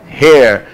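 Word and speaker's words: heir: h é mudo é não confundir com o Hair que tem som o Hair só que é Hair só que é é que é herdeiro herdeiro certo House então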